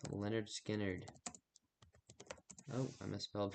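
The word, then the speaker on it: Lynyrd Skynyrd: So, um, my next song is off of Pronounced Leonard Skinnerd.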